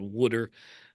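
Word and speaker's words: wooder: wood Ice, you know, pronounced and spelled Woodter as they do in Philadelphia, at least as some people do.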